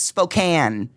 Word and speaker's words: Spokane: We even invented a candy company so you could try to pronounce it right. It's Spoki cuz it's Spokane.